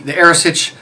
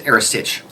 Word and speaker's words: earasaid: Now, the Arisich, it's just for everyone out there, Arisaid, Earasaid, in Gallic is Arisich. We were corrected on that recently, and we are trying our very, very best to say it properly.